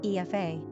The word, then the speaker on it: Aoife: Although the Irish spelling looks awkward to the average English speaker, the name is actually pronounced with quaint simplicity in its original Gaelic tongue, Aoife.